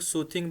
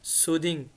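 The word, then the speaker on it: soothing: अब ये पहला वर्ड है जो जिसकी प्रोनाउंसिएशन गलत बोलते हैं लोग, सूथिंग बोलते हैं। सूथिंग नहीं होता, ये होता है सूदिंग।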